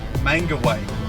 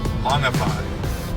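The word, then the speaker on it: Mangawhai: So I was pronouncing it Mangaway, Mangawai.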